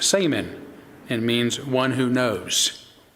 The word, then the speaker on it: shaman: It is pronounced saman and means one who knows, referring to a person believed to have access and a mediator even between people and the spirits.